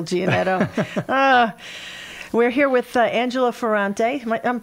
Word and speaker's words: Ferrante: We're here with Angelo Ferrante. I'm pronouncing that right? That's correct, yeah. Angelo Ferrante.